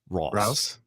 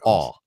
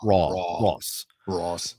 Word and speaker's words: Ross: different pronunciations of Ross, because I pronounce it like AU. Ross. Yeah. No, Ross. Like AAW. Ross. But if you just go with the short O, like Ross, and Ross, which I get a lot.